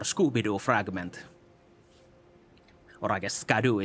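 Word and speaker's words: Scadu: fragment or I guess scadoo is supposed to be pronounced shadow in the old English or whatever, but skyoo is funnier for me.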